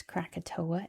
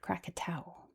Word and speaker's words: Krakatau: So in history, this big old volcano has been known as Crakatoa in the English- speakaking world, but in Indonesia, it's pronounced Crakatau.